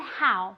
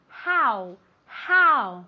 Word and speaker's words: how: Cuidado con how, ¿vale? Se escribe con una O, pero se pronuncia como si fuera una A y después una U. How, ¿vale?